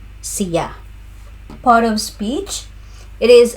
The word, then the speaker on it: siya: Pronunciation cya. It's on the second syllable. Sea.